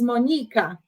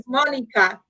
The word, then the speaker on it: Monika: So in Polish, we put, we pronounce is Monika, right? But in English, it's Monika. It's fine either way.